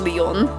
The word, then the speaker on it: Lion: Yeah, it's really weird that it's spelled lion, but it is pronounced Leon.